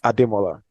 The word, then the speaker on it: Adola: name is um my surname is hard to understand and pronounced if you're not from Nigeria um but it's adola what it means is